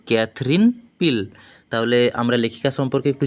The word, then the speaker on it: Katherine Pyle: উড়তে এর লেখিকাকে লেখিকা হলো ক্যাথরিন পিল উচ্চারণটা হবে ক্যাথরিন পিল তাহলে আমরা লেখিকা সম্পর্কে